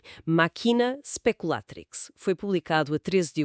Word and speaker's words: Machina Speculatrix: Atenção à pronúncia. Ela tem Maquina speculatrix.